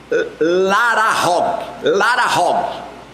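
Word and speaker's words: להרוג: O primeiro verbo do hebraico, ele se pronuncia larahog, que significa de fato matar.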